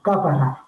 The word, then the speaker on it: Cápara: alargada del arco de Cápara, sí, con acento en la A. Aníbal Sepúlveda Rivera le sigue el rastro a Juan Ponce de León y a la sombra alargada del arco de Cápara, que le acompaña en